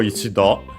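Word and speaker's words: 一度: Then we have ichido, accent on the last syllable, which is yet again a numeral plus counter combination actually.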